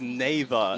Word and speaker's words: Nava: Nava? No, it's Nava. Nava. But I know it's Nay.